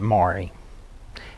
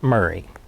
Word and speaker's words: Maury: i've studied the family the family pronounces it mari and but the county pronounces it murray and i i don't